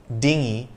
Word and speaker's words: dinghy: g in the english spelling to indicate that dinghy is pronounced with a heart g not to be